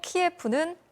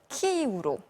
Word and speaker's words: 키이우: 오늘부터 MBC는 우크라이나 지명을 러시아어가 아닌 현지어 발음을 기준으로 전해드린다는 점 먼저 말씀드리겠습니다. 우크라이나 정부의 요청과 국립국어원 측의 권고에 따라서 수도 키예프는 키이우로, 동부 도시 하리코프는 하르키우라고 바꿔서 부르도록 하겠습니다.